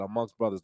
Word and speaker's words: Amngst Bruthaz: You say it like that, amongst brothers.